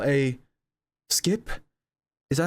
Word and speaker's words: SCP: I'm here to tell you about what you call a skip.